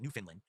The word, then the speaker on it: Newfoundland: No, I've only been to Canada once, and it was to Newfoundland, or Newfoundland is how you spell it, but they pronounced it Newfoundland, which is like a fishing town slash part of the country.